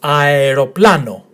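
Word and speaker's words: αεροπλάνο: Emphasis on this syllable, pla. So aeroplano, aeroplano, which means airplane.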